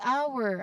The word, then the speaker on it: hour: Next is hour. I've also included it as an example. Silent letter H.